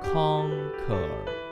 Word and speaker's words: conquer: Và ta lưu ý từ này phát âm nhấn bằng đầu. Conquer.